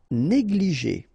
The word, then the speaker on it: négligé: médical mémorable insist on the fin e mémorable négligé ok accent aigu here and here et et